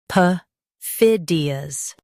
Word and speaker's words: perfidious: PERFIDIOUS. Stress fid and keep light.